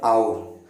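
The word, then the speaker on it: hour: एन आउर, एच जो है इसमें साइलेंट है, लेकिन पहला जो साउंड आ रहा है वो अ से आ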